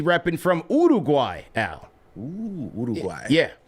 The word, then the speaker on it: Uruguay: Ooh, Uruguay. Yeah, that's how they pronounce it. You got to let it roll off like that.